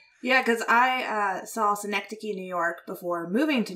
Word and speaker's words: Synecdoche: recently he did anomalisa and then i never pronounced this correctly but cynic doke new york exact close enough cynics oak i believe it's schenectady synecdoche new york damn oh okay okay like the